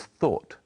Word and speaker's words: thought: tense of think is thought it's spelled in a strange way but it's easy to say thought try saying we thought